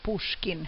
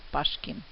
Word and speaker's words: Pushkin: There are two writers that we will start the course with, Alexander Sergeyevich Pushkin, and note the pronunciation, it is Pushkin, not Pashkin, and the second writer, Mikhail Yuryevich Lermontov.